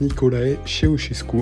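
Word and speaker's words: Nicolae Ceaușescu: parenthèse sur ce monsieur on prononce niikolae cheosesku en fait c'éit un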